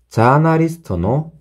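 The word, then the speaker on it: ジャーナリスト: 장음이 있으니까 앞에 음에 모음이 따라오게 돼요.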